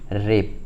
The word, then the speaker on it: wrap: देखिए क्या है कि कहीं भी अगर आप लोगों को WR या फिर SW अगर कहीं दिख रहा है तो वो हमेशा क्या होता है, साइलेंट होता है। ठीक है, जैसे कि आप लोग देखिए यहाँ पे रेप। ठीक है, रेप मतलब लपेटना। ठीक है, जैसे यहाँ पे स्पेलिंग इसका क्या लिख रहे हैं, पर WRAP रेप। ठीक है, यहाँ पे W लिख लिया पर हम लोग पढ़ रहे हैं रेप।